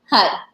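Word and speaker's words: Har: At the same time, you're chanting HUD. So HUD, HUD, HUD. It's spelled H-A-R, but it sounds like H-U-D, and you're really making it from your navel point.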